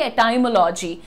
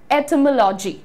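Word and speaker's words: etymology: इस स्टडी को हम बोलते हैं ये वर्ड, जिसको मैं भी अभी बहुत रिसेंटली तक बहुत कंफर्टेबली कहती थी एटाइमोलॉजी। लेकिन दोस्तों आप यहां पर ध्यान से देखिए, इसका प्रोनाउंसिएशन तो मैंने लिखा ही, ओह ये रहा, ठीक है, ये रहा pronunciation, it इज एटमोलॉजी, right. And बहुत सारे लोग इसको एटमोलॉजी भी बोलते हैं, लजी। सो हाउएवर इंडियन एक्सेंट से मजबूर मैं इसे बोलूंगी एटमोलॉजी, लॉजी, क्योंकि हम बायोलॉजी कहते हैं, बायोलॉजी नहीं बोलते हैं, राइट।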